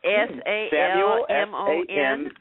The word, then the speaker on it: Salmon: me as salmon on Facebook that's s a l m o n s a l m s m u l salmon s a l m o n like the fish we can find you